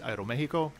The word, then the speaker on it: Aeromexico: pretty small for Aeromexico, which of course is properly pronounced Aeromexico, but let's not split hairs.